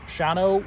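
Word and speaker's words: Shawano: do you say the town were they from shawno wisconsin shawno wisconsin and uh they do a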